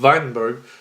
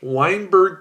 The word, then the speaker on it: Weinberg: named varjun weidenberg now that w is pronounced as the v in german so the weinberg so the hardy weinberg